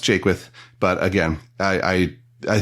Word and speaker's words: Jaquith: bad at all it's it's pronounced Jake with but again I I